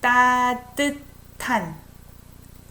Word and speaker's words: 따뜻한: But your 따뜻한 미소와. I pronounce it as if it's T. S and H together sounds like T. 따뜻한 미소와.